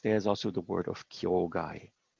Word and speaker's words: kyogai: Now in this very specific context, there's also the word of kyogai. The characters for kyogai are pronounced kyokai in colloquial Japanese, and there the word means freedom.